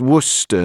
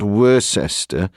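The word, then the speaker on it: Worcester: from the fact that it's pronounced Worster not wores wer got you Stanley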